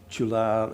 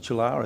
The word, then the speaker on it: Tulare: How much of the Chular, is it Chular, is that how you pronounce it, Tulare.